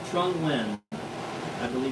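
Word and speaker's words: Trung Nguyên: Vietnamese coffee from Vietnam Trung win pronounced that way very aromatic and use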